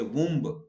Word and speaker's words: womb: You don't say womb. B is not pronounced.